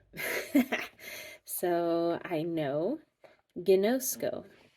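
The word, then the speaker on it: γινώσκω: Gno has the accent on the no, so you gotta know because you know. I know, gnosko.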